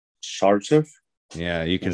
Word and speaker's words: Sarcev: Sarcev.